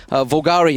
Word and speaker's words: Volgare: you have just seen vgar of course vulgari I should say is the correct pronunciation I think uh I'll